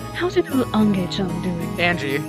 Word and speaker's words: Ange: we pronounce the owners no no it's angie yeah it's angie like western names there's no eye oh it's it's angie trust me it's like uh angel but angie yeah all right anyways